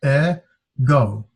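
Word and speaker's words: ἐγώ: and it would be has two valves and two syllables a go that go like let go of my eggo hey ed go means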